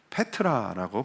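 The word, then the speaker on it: πέτρα: 반석은 페트라라고 반 발음을 합니다.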